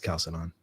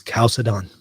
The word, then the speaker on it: Chalcedon: It's Chalcedon. Look it up. Look it up. If you look it up in the dictionary, it'll show you how to pronounce it. It is Chalcedon. Regardless of where you're at, it's Chalcedon. Whether you're in Italy or in America.